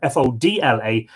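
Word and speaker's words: Fódla: with fuller or fuller it's spelled to your fo TLA but usually rendered fo DLA and of course with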